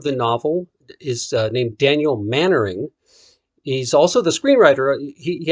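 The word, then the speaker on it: Mainwaring: spelled main wearing but i've also always been told that it's pronounced mannering so that's what we're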